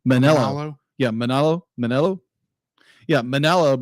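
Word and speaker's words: Manolo: so many fights yeah and how do you pronounce the other guy's name manelo manelo yeah manelo manelo yeah manelo be like is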